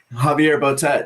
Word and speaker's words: Javier Botet: most inspiring one was, the actor, hope I pronounce his name properly, Javier Botet. Javier Botet, yeah.